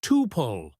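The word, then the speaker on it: tuple: In database terms, a row is called a tupole, pronounced tupole. Yes, people argue about this.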